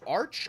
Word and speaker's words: Arc: So is it pronounced arch or arc? Arc. It's the French version.